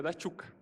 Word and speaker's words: Daciuk: É que a pronúncia do meu sobrenome é da Tchuka, né? É ucraniano, aí eu só troquei o Tchu ali pelo 2.